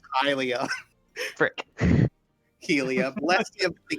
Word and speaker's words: Hylia: Just blessings of Helia upon you, and then give him a pat on the shoulder and leave. Also, am I pronouncing that right? It's very important I pronounce that right. It's Hylia.